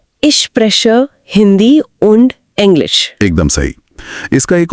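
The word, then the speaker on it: und: हिस्से से आती है और उंड का उच्चारण होता है उंड तो इश्क प्रेशर हिंदी उंड इंग्लिश एकदम सही इसका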